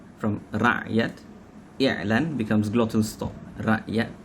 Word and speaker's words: rakyat: When these words enter Malay vocabulary, they are pronounced rakyat and i'lan. Notice how the sound from ra'yat, i'lan becomes glottal stop, rakyat, i'lan, simply because